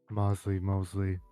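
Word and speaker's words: Moseley: Wait, how do you pronounce Mosley? Mosley, same thing.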